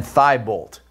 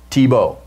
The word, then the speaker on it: Tebow: and he said Dan thigh bolt well that's what it looks like it ends with a tee but it's French Tebow and it don't pronounce the T at the end so since she is